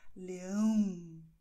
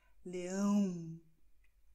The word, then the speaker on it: Leão: Das heißt, die Luft soll Richtung Nase gehen, wenn du Leão sagst. Leão. Okay, nach oben. Und da ist die Luft in der Nase und es kribbelt sogar ein bisschen. Okay, und du spürst eine Vibration.